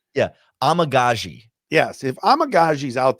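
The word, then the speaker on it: Amegadjie: name but what give me give me the pronunciation yeah amagazi yes if amagazi is out there again I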